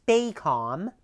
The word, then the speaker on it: PACOM: the from the movie they called its PACOM that's how it was actually pronounced in the film but instead Joel and the bots changed up the pronunciation a bit and they've got an